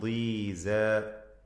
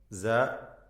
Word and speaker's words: ضيزى: ഇദൻ ഖിസ്മത്തുൻ ദീസ. സ അതും അതിൻ്റെ അലിഫും തർക്കീഖ് ചെയ്യേണ്ട അക്ഷരങ്ങളാണ്, തഫ്ഖീം അല്ല. ദീസ. സോ പറയരുത്, സ.